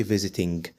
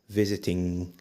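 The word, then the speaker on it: visiting: هتبقى وين بس طبعا خلي بالك ان الاي ان جي مش بتنطق حرف جي ما تقولش فيزتين هي اسمها فيزتين اخرنا حرف ال ان ما تزودش عن حرف ال ان خالص وده تكوين زمن المضارع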